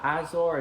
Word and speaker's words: Azor: The next grip I tried was a second grip from Pixel, but it's called I believe it's pronounced Azor or Azor, it's A-Z-O-R, and these grips feel kind of like foam.